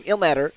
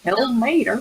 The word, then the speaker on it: Ilmater: played by Nicole, our paladin, who is newly found the god of I always say his name wrong. Ilmater. Elmater. Ilmater.